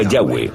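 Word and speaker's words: Yahweh: y español son yhw pensamos que probablemente se pronunciaba yahwe o algo así pero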